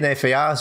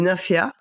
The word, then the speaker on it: Nymphéas: Est-ce qu'il faut éviter de prononcer le S à la fin? Les Nymphéas, ouais. On dit pas les Nymphéas.